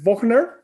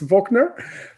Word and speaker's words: Wochner: well leave wagner and i mispronounced your name i pronounced it the german uh way i'm sorry it sounds so good i love that i said wachner but it's wachner um so great to